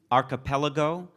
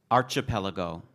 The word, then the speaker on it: archipelago: talking about myself uh this word also has a variant pronunciation archipelago archipelago is there is there one you'd prefer I mean archipelago a